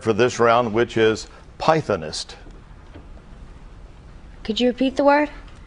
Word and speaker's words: pythonist: So, Walter, if you're ready, we're going to go to your word for this round, which is pythonist. Could you repeat the word? Pythonist. Any alternate pronunciations?